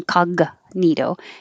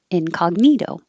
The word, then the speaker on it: incognito: well june and july in incognito the cog your tongue goes to the g position in the back but you don't release it it's not in kaga nito in hold it there and then go to the in and the front incognito the t changes to a d you can say import